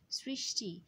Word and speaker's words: সৃষ্টি: সৃষ্টি, সৃষ্টিতে আমরা শব্দটা একটু খেয়াল করি, সৃষ্টি এখানে দন্ত স থাকলেও আমরা কিন্তু তালব্য স বলছি না, আমরা শ্রী বলছি অর্থাৎ ছয়ের মতো উচ্চারণ করছি। অর্থাৎ সৃষ্টি বানানে বানানের ক্ষেত্রেও দন্ত্য স, উচ্চারণের ক্ষেত্রেও দন্ত্য স হচ্ছে। কিন্তু এক্ষেত্রে মনে রাখবো আমরা যে মূর্ধন্য স্বর উচ্চারণ হয় তালব্যস্বরের মতো, এই জন্য প্রথম অংশ হবে সৃষ, পরের অংশ টি, সৃষ্টি।